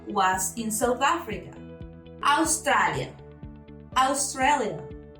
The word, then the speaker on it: Australia: Australia. We write it the same, the spelling is the same, but of course the pronunciation is very different.